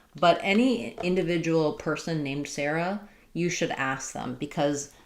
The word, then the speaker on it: Sarah: Most US speakers will say Sarah uh with the air dip thong Sarah Sarah. Um and it can also be pron spelled this way. But any individual person named Sarah, you should ask them